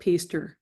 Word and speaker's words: Pister: name was Edwin Philip pter rhymes with Easter his friends called him